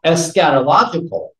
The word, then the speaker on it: eschatological: and I actually wanted to make sure I pronounced it eschatological I had to use Google for that one